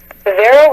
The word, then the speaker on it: Verrall: Does the accent sound like Verall, or does it supposed to sound like Verall? Verrall like a barrel. Verall? Verrall like a barrel. Okay, so the accent is on the first part of it, the Verall.